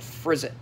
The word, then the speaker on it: Frizzit: He's called Frizzit. Kind of like Drizzt, yeah, rhymes with Drizzt, yeah.